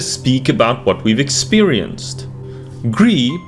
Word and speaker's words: Gris: about what we've experienced Gris probably pronounced grease since this is a Spanish developer is one of those